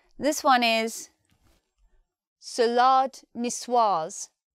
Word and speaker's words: salade niçoise: pronunciation this one is salade niçoise salade niçoise in this word we're not saying salad the second syllable is lard sounds longer this is the French